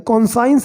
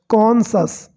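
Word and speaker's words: conscience: कई बार लगता है कि ये CON कौन हो गया और SCIENC साइंस हो गया, तो कॉन्साइंस बोलते हैं, लेकिन दोस्तों इसका करेक्ट प्रोनाउंसिएशन होता है कॉन्सस, ओके, कॉन्सस, जिसका मीनिंग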